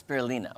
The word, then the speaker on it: spirulina: Spirulina.